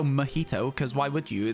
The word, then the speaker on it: mojito: did the pronunciation but if you don't know that the J is an H if you just read the word and you are English you're going to go magito right you're not going to go mahito cuz why would you